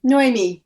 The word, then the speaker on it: Noémi: Is it Noémi? Yeah. Noémi. It's kind of got almost two stresses.